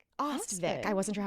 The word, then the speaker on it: Ostvik: Ostvik. Ostvik. I wasn't sure how to pronounce that.